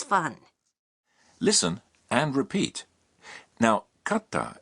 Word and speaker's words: katta: listen and repeat now katta is pronounced with a brief pause in between ka and ta tanode another